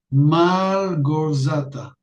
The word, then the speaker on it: Małgorzata: Malgorzata.